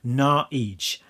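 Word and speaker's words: Naux: At least I thought it was supposed to be pronounced No, but doing a little bit of research on the internet tells me that you're actually supposed to pronounce it Naij.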